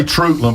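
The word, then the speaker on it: Treutlen: And you can say Trutland because I used to live in Southeast Georgia. That's the correct way to say it. So that's that's what they call themselves.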